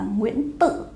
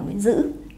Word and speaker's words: Nguyễn Dữ: Tác giả, tên tác giả có người đọc là Nguyễn Tự. Và có một số tài liệu thì khẳng định rằng tên tác giả chính thức là Nguyễn Dư.